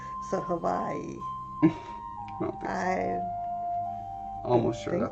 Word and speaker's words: Hawaii: Van Mortis says to pronounce Hawaii, pronounce the W as a V. So Hawaii.